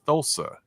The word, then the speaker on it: Thulsa: I don't know why you keep calling him Tulsa though it's thulsa do yeah most for most a lot of